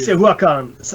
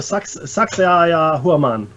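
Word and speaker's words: Sacsayhuamán: Saxayahuacan. Oh, sorry, Saxayahuaman.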